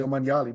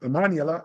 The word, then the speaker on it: Omanyala: I always say Omanyali, but Omanyala, as you're the pronunciation man.